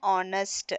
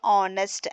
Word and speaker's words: honest: An honest here h is not pronounced. Okay, so honest and honest.